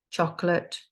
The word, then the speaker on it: chocolat: So we'd say agent, agent, euro, euro, chocolate, chocolat, prince, prince, rugby, rugby, dragon, dragon.